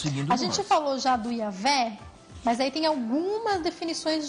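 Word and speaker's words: Yahweh: se pronuncia isso mesmo isso na verdade é um dos casos clássicos de como nós herdamos esse nome via o latim o J do latim ele vale como a nossa letra i Uhum mas isso para quem sabe latim porque quando você vê o J no latim sem conhecer latim você vai pronunciar como J então o nome certo em hebraico é yahvé Eae mas é o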